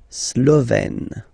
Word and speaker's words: Slovène: Remember, E accent grave, you open it, Slovène.